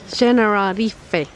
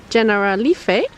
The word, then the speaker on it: Generalife: We crossed that bridge, and now we're in the Generalife, which we asked doesn't really mean anything in Spanish, but it's the Spanish pronunciation of an Arabic phrase, Generalife, which means Gardens of Paradise in Arabic.